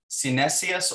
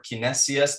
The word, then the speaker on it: Cinesias: So it's called The Sayings of Synesius or Kinesius, depending on whether or not you want to pronounce that hard C, the way that people